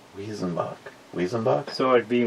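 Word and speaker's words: Weizenbock: W's are pronounced as V's in Germany. Weezenbach. Wezenbach. So it'd be like Visenbach.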